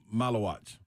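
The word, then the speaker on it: Maluach: How do you pronounce the center for Duke? Malawatch.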